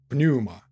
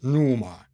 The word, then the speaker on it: pneuma: air it is called pneuma uh sometimes pronounced in english as numa number but there is a p in the beginning of the world in